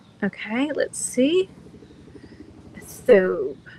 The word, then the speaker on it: thobe: Thobe, like robe. Thobe, robe. It rhymes with robe.